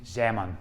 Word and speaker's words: Zeeman: Z interaction and uh my girlfriend who's Dutch uh insists on pronouncing it zamon because well Peter zamon was Dutch so where we need